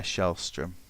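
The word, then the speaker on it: Källström: How do you pronounce Kallstrom though? Shellstrom. Shellstrom. Yeah, I think so. Like strum. Like the O as a U.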